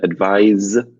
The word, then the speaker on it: advise: in there as well advice for the soft set is noun and advise with as is the firm imagine like a guys